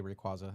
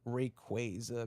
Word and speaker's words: Rayquaza: I really want to say Rayquaza. It's what I've always said, but I'm trying here, okay? And Kyogre V and Rayquaza V. There you go. It's really an effort to say it like that.